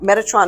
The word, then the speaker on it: Metatron: here where he's got metatron is pronounced as met a tron met is the word met a is the word ah which sounds like the ah in father tron is like the